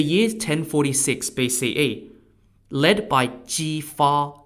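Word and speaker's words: Jifa: up in the year's 1046 BCE led by G far spelled j-i-f-a the Joel defeated the Shang at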